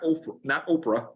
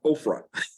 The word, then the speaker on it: Ophrah: Israel played the harlot with the ephod in Ophrah. Not Oprah, Ophrah. Okay. Actually, that's where Oprah's name came from, and her family mispronounced and spelled it wrong.